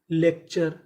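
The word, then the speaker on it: lecture: ई सी lake T यू आर ई चर लेक्चर लेक्चर लेक्चर का मतलब होता है भाषण तो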